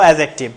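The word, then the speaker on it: adjective: ডিটা অনুচ্চারিত থাকবে, বলবো অ্যাডজেক্টিভ।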